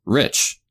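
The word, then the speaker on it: リッチ: it with katakana and if it's spelled with katakana then it's pronounced rich right and so they're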